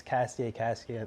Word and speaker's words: Castillet: That accent emphasizes the yay sound. So, really, actually, I got the idea from my father. He was like, since that's what makes Castillet a name and not